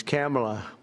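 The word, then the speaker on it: Kamla: It's Cam, right? Cam as opposed to Com.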